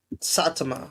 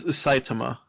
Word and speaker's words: Saitama: Yeah, it's Saitama. like the because it's it's the name is based off of the prefecture of Japan which that's what all the like cities are.